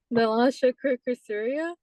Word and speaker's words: Nilasha Kurukulasuriya: NILASHA KURUKULASURIYA.